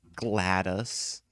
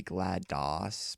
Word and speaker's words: GLaDOS: however you pronounce it it's probably glad Doss because it's based off you know and Disk Operating System which is Dos so makes the most sense for it to be GLaDOS but so here's the